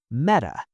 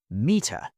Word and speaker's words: meta: And meta is pronounced meta, not mea.